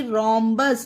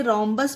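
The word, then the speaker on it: rhombus: बस यानी कि रोमस इसे रोमस पढ़ा गया क्योंकि आर के बाद एच है तो बस यही रूल आपको ध्यान रखना है कि आर के बाद जिस भी वर्ड में एच हो जस्ट बाद तो उस वहां पर एच का उच्चारण नहीं होता वहां पर एच साइलेंट रहता है आगे देखते हैं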